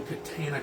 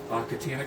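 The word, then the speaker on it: Catana: The other thing is that I wanted to get was, if you know Katana Comics, it's spelled with a C, it's pronounced like the sword. Katana Comics released, I think,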